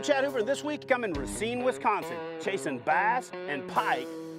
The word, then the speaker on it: Racine: good morning everybody I am in racing or Racine depending on where you're from or how you say it cuz people from here say both so I'm gonna go with Racine we are in a